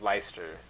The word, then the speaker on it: Leicester: i s t e r correct and it's ler or ler so mispronounced it all the time it's leester City and one this is one of the